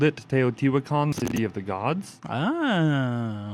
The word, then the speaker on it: Teotihuacan: That's the Teotihuacan or whatever. Oh, yeah. Okay. Andrew, how do you say that? Teotihuacan. There we go.